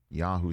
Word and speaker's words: Yahoo!: That's Charles Robinson of Yahoo Sports. Exclamation point is silent, by the way.